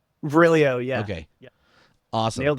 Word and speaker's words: Virilio: Is that how you pronounce his name? Virilio? Virilio, yeah.